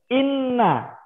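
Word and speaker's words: إنّ: Kalau seandainya Pak Andar kasih tasdid di huruf na-nya, maka bacanya jadi apa? Bacanya jadi, ya pinter. Inna.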